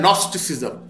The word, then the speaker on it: Gnosticism: फिर सोने पर सुहागा, एक हमारी फील्ड है नॉस्टिसिज्म, इसकी स्पेलिंग होते जी एन ओ एस, कहीं आप ये ना फिर सर्च करते रहे कि एन ओ एस का हमें मिला है कि ये जी साइलेंस है इंग्लिश के उसके ग्रामर